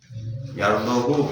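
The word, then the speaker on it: يَرْضَهُ: Yardohu haknya juga dibaca pendek. Yardahu lakum deh kan mana tadarus wa in tashkuru yardahu lakum itu tidak boleh karena harakatnya sudah jelas dibaca pendek.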